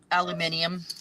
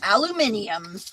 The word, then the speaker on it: aluminium: Or as the British say, origo. Yeah. Aluminium. Mhm. And aluminum.